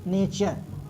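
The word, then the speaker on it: nature: ई लिखा है तो यहां टूरे नहीं पढ़ेंगे क्या पढ़ेंगे नेचर पढ़ेंगे नेचर क्या पढ़ेंगे नेचर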